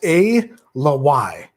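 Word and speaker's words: Ala Wai: y a l a space w a i pronounced a le y your sample is a l y batch 14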